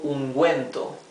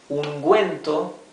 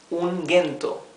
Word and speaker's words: ungüento: Ungüento, as you can see, we are pronouncing clearly the letter U because it has the 2 points, the diéresis. Ungüento. If we omitted these two dots, this would be ungento.